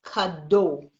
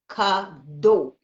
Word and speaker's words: Kado: I did from English, people have problems saying my name. It's Kado. Kado. Kado.